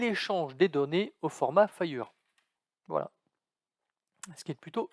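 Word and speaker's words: FHIR: santé dans le monde dont l'acronyme lfh ir prononcé fire qui veut dire fast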